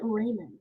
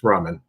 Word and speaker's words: ramen: I pronounce it Raymond. It's ramen.